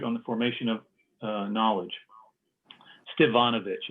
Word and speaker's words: Stevanovich: Stevanovich. It's with a V, but he pronounces it Stepanovich.